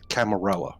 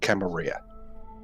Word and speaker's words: Camarilla: So the sect that everybody belongs to is the Camarilla or Camarilla, depending on how you want to pronounce it.